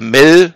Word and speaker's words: MEL: minimum apple ist wird kurz e mail oder mel ausgesprochen da steht drin was darf